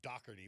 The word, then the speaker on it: Dougherty: They pronounce it Dougherty with the hard G in Philly area.